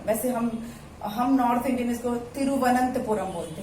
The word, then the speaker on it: तिरुवनंतपुरम: तिरुवनंतपुरम बोलते हैं, तिरुवनंतपुरम, लेकिन थोड़ा ये थ का साउंड आता है, तिरुवनंतपुरम, तिरुवनंतपुरम। क्या है ये? केरल का कैपिटल है तिरुवनंतपुरम। प्रैक्टिस करना पड़ेगा बोलने का आपको, तिरुवनंतपुरम। आप तिरुवनंतपुरम बोलेंगे तो भी सही है, तिरुवनंतपुरम बोलेंगे तो भी सही है, ठीक है।